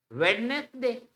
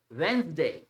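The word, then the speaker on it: Wednesday: didn't didn't didn't didn't okay वेडनेसडे ना ना इट्स वेनसडे वेनसडे वेनसडे रिसिफ्ट नाउ इट्स रिसी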